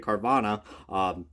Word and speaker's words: Carvana: but I'm going to say how, I properly pronounce it, Carvana, Honda for Chip Ganassi Racing.